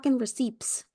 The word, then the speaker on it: receipt: these receipts okay or receipt because the p is silent no not today you